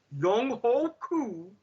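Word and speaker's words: Younghoe Koo: going to do is, and yes, this is the proper pronunciation of his name. I don't give a damn what you networks try to say to keep this up. Young Ho Koo going ahead and doing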